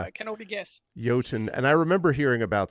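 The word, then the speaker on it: Jotun: oh man it's it's yotun right not joton uh yoton and Sun well that's how I would pronounce it it's a Norse word I canot guess yoten and I remember hearing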